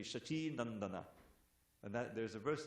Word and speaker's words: Shachinandana: Just like everyone says Shachinanda, Jai Shachinandana, Jaya Shachinanda. But if it's in the verse, it has to be Shachinandana.